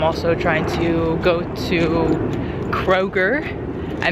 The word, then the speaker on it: Kroger: Um, right now I'm having a little exploration and I'm also trying to go to Kroger. I mispronounced it in my in my my other video.